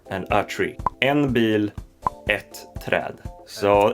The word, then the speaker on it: ett: So the first number in Swedish is ett. But it could also be pronounced en.